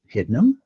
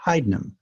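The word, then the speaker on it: Hydnum: the letter Upsilon which allegedly was pronounced like the French U as in Du So in theory it's probably should be hdim but I never use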